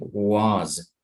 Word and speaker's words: was: Okay, the second thing also with the word was is that in American English will sound more like was. Entonces, aunque hay una S, la pronunciamos como Z.